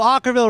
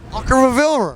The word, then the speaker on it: Okkervil: hard name to pronounce it's kind of like o c h r okra Ultra Ville River or something like that we have will from from okra yeah or something yeah yeah yeah yeah rhymes with sock rhymes with sock oh